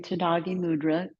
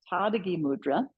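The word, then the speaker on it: Tadagi mudra: you exhale and so I've been mispronouncing tagi mudra as was Eddie that's how I where I am in my class sequence so it's t Tad mudra we start with Tad mudra tagi means empty leg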